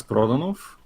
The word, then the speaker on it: Prodanov: yeah yeah yeah yes it's really hard to pronounce because it's a it's a Bulgarian names not meant to be pronounced in any other language it's proton off is my full name